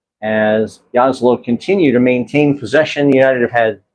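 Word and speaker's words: Jasło: The CZ in Polish is usually pronounced ch, and Jaslo is JASLO. The J is usually pronounced as a y. So it's Czarni Jaslo.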